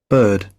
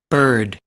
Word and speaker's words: bird: shirt skirt t-shirt okay actually this is British pronunciation but I will show you also oops the American one okay but even though pay attention on this is the same word and with two different pronunciations the sound is the same can you see the same sound okay so bird bird in this case you mark more the letter R right but then